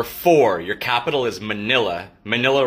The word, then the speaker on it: Manila: Manila rhymes with vanilla.